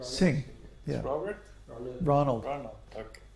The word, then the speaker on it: Singh: Ah, And Singh, I don't know how to pronounce that name. Singh, yeah.